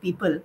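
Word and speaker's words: Peepul: name for the organization that i'm associated with people which is spelled p-e-e-p-u-l we are an education non-profit so the idea was you know think back to every child living their potential under the people tree the way that things used to be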